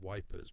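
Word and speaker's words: Ypres: It started when a unit found an old printing press in a bombed out building near IPA, which everyone pronounces wipers because it's easier.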